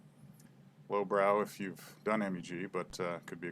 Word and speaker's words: MEG: a background test so if you came up in the EEG world you are used to pronouncing the initials so you automatically say Meg so it's awkward to say in a talk EEG and Meg so you just say Meg so but often people